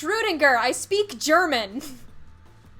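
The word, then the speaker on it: Schrödinger: like ooh than oh people say schrodinger in english but more correctly it is schroedinger i could be a dick and say srirenga every time i just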